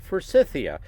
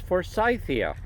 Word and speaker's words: Forsythia: But the name is pronounced a little differently in the UK. Here in the US we call it Forsythia.